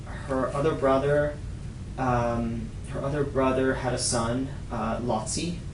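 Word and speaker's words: Laci: Her other brother had a son, Lotzi. It's spelled L-A-C-I.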